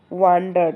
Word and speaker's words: wondered: ठीक है बच्चों, देखो ये जो वर्ड है ये है वांडर्ड। ठीक है, ये है वांडर्ड, इसको पढ़ते हैं वांडर्ड, और जो ये वर्ड है इसको पढ़ते हैं वंडर्ड। ठीक है, तो वंडर्ड का स्पेलिंग क्या होता है? WONDERED, वंडर्ड, WONDERED, वंडर्ड। लेकिन वांडर्ड क्या होता है? WANDERED।